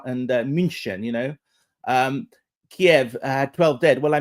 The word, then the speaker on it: Kiev: in in, uh, in Kiev, it's Kiev, by the way, in English, not Kev. Um I mean why don't we say Muskva and Munchen you know um Kiev had 12 dead.